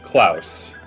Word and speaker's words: Claus: I'm going to change this freaking name cuz I keep mis pronouncing it all the time. It's supposed to be Clouse.